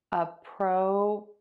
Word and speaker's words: appropriate: Appropriate, appropriate, appropriate, appropriate. And for this word, we're going to stress the last syllable, the eight.